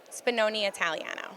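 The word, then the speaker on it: Spinone Italiano: How do you pronounce that? Spinoni Italiano. Okay. Spinoni Italiano.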